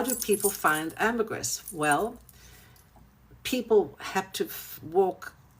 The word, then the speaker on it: ambergris: So, ambegris, it's actually pronounced in English ambergris, but in French ambegris, you don't pronounce the S.